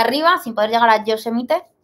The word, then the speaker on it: Yosemite: y subir hacia arriba sin poder llegar a Yosemite. ¿Yosemite?